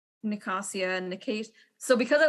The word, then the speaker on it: Nicasia: But that leads to like Nicasia and Nicasia. So because I listened to it, it's Nicasia.